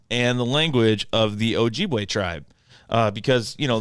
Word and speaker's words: Ojibwe: and up in like wisconsin and canada ojibwe ojibway yup so the ojibwe tribe that's actually ojibwe but um not just hold on a minute